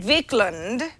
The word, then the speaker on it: Wiklund: thank you thank you vickland would be the proper way to say your last name but I think people probably call you Wickland all the time yeah they do